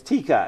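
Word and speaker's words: Taika: and he said, well, think of tiger. But now you're going to take the ER off, and you're going to make an A, and you're going to stick an A, and it's Tika.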